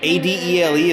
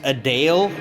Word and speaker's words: Adele: Lamont apparently it's like a d e l e is pronounced a Dale instead of Adele I had no idea